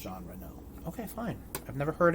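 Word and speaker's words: Jean Reno: Professional stars of one jean Rino who's a French assassin Hitman it's pronounced Gen R no okay fine I've never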